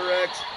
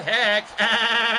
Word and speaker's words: Rex: spelled my name wrong it's rex not heck oh god would you